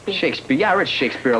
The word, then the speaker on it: Shakespeare: Shakespeare. Shakespeare.